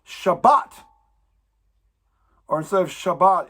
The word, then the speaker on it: Shabbat: Bet, Tav, it's actually, that means you emphasize the Bet. So instead of Shabbat, it's Shabbat. Or instead of Shabbat, it's Shabbat, and you enunciate the Bet.